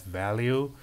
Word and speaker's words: val: For defining variables, val is the keyword that can only be assigned once, which is to me pronounced as value, and var is variable, and it can be reassigned.